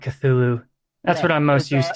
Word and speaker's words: Cthulhu: for his name like Lovecraft himself pronounced it like really bizarrely it was like uh caculu or something and I've also heard katulu but I just like Cthulhu that's what I'm most